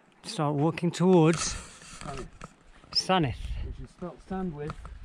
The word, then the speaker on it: Sandwith: And this is where we take a right, start walking towards Sanith, which is Sandwith. Sandwith, but you pronounce it Sanith.